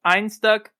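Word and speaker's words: Einstök: and like I said I learned the the can I think is supposed to be pronounced Ein stuck and then the little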